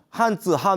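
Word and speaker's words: 漢字: 이게 한즈, 한원 이러지만 우리는 이렇게 읽지 않아요.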